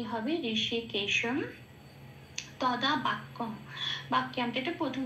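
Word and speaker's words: হৃষীকেশম্: আচ্ছা, তারপরে লাইনে আসি, ঋষিকেশম, অনুস্ব আছে শেষে, অনুস্ব থাকলে এটা কি হবে? ময় হসন্ত হিসেবে উচ্চারিত হয় সেই জন্য ঋষিকেশম।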